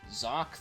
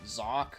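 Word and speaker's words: Xak: And as for number 18, we have is Zoc 3. Now you're probably wondering, Zoc? Like how do you spell that? It's like X-A-K. What, you thought it started with a Z?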